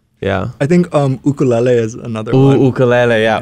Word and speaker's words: ukulele: I think ukulele is another one. Ukulele, yeah. Yeah. Ukulele. Yeah. Yeah. Ukulele.